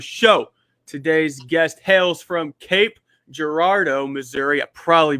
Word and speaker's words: Cape Girardeau: It's Cape Girardeau, Cape Girardeau.